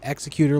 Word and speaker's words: executor: It's executor like executive, no offense.